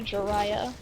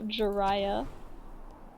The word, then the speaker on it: Jirachi: Say hello to Jiraiya City. Calling copyright. They used my Did you name. say, oh gosh, what's that Pokemon's name? So Jiraiya. Jirachi? Did you say Jirachi? No, Jiraiya.